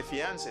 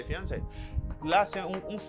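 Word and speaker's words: fiancée: and tell is my fiancee mary is my fiancee same pronunciation but not the same writing memphis because you say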